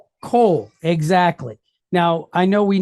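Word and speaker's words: כל: So we have the letter kaf, and we know it's kaf because we have the dot inside. So it's going to make that hard K sound. And then we've got this T-shaped deal underneath here, and then it's followed by a lamed. Okay. So what word do we have here? Coal.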